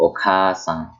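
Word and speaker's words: お母さん: So for example, okasan, okasan. See, I kept the A sound for longer.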